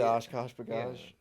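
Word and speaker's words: OshKosh B'gosh: Is it Oshkosh Bagosh?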